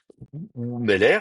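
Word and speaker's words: וּמֶלֶךְ: Ou Meller, bon, bah, tout simplement le Meller va devenir ou Meller.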